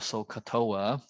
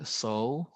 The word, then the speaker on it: SOHCAHTOA: And so basically, you will say that SOHCAHTOA. So it's a 9-letter word. And so, ka means sound like coughing, and toa.